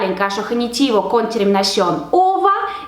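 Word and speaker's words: ого: Y ahora hemos dicho que este número ordinal hay que poner en caso genitivo y tendrá la terminación ogo, que se pronuncia como ova. Entonces tenemos 15.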